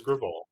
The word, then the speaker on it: Graal: if I can find it's it's Graal is Graal but I'm sure you can call him gravel and piss him off oh no he would be pissed off if you mispronounced his name ever I'm also like very